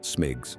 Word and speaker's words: SMGCS: Airport surface movement guidance and control systems, SMGCS, pronounced SMIGs, became required at major airports worldwide.